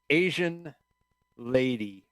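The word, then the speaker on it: Asean Lady: here uh is uh Asian lady which is not spelled the way that you would think uh it's spelled a-s-e-a-n which in of itself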